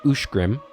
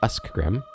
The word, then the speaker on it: Ushgrim: any of this uh this word is pronounced ushgrim and not us grim okay and then this